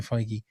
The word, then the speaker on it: Feige: is the thing that Kevin Feige, that's how you say it, I think, isn't it? Kevin Feige. Yep.